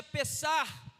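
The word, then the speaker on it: פסח: E o significado da palavra Páscoa, ela tem de origem, ela é de origem hebraica, se pronuncia pessar, que significa passagem, a passagem do povo.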